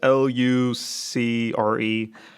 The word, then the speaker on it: Lucre: Lucre, I think that you pronounce it. It's Lucre.